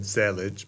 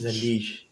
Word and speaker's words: zellige: of what I said, Zellage, but Hein is saying that it rhymes with prestige. So I guess that's Zellage? Zalish.